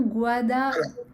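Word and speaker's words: Gwada: Et donc ça s'écrit G-W-A, D-A, puisque le son gua en phonétique créole, c'est W.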